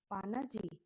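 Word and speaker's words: Panaji: गोवा को गोवा का जो कैपिटल है पाना पजी हिंदी में बोलते हैं और आप ऐसे याद कर सकते हैं पाना जी ठीक है पाना जी तो पी ए एन ए पाना और जे आई जी हो गया ठीक है और हिंदी में बोलते हैं प जी इस तरीके से पजी होता है ठीक है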